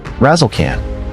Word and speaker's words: Razzlekhan: Her stage name Razlecan. Yes, that's spelled exactly how it sounds.